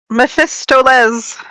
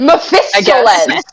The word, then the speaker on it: Mephistopheles: you How are you pronouncing pronouncing it? Mephistoles. What? Mephistopheles.